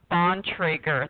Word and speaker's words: Bontrager: to say your name so my name is pronounced Bontrager the last name is pronounced on Traeger and